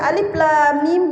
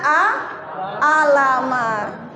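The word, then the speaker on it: الم: ada Alif di sini maka bacanya a Alif bukan a la di sini bukan la tapi la lam mim di sini bukan Ma tapi mim Alif Lam Mim bukan a alam ada lagi yang baca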